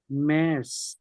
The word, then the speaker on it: März: মের্স। Meyers, না? মের্স। Meyers, এই তো মে, এর মতো উচ্চারণ হবে না, মের্স।